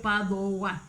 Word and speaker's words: Padova: Él nace en un borgo de Vicenza, en Padova se escribe en italiano, que realmente la V de los latinos es una U, Padova.